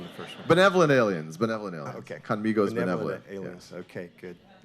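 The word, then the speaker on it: Khanmigo: It's, and you have the best pronunciation of Conmigo, because that was the whole intent, is to be Conmigo.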